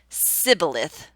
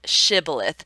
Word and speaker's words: shibboleth: And if they pronounced it sibboleth, then they knew that they were not part of the group, and that's when they killed them. This is how we got the word shibboleth, even though it comes out of the Bible.